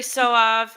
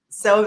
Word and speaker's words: Sauve: Carrie Soav and Associates. I said it right. Sauve. Oh my God, Sauve. I thought I had it. Sauve. That's okay. That's okay. Sauve. The charm.